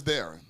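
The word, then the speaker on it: Diahron: my my real name my real name is daring uhuh but it spelled up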